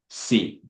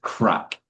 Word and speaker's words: craic: Um, but crack is spelled Craic. So completely different. Looks like it would be said like craic or something like that, but it's crack.